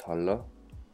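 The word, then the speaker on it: Halla: it breeds 450 so all hundra but it's pronounced is hala hala Mountain yeah so today I'm going to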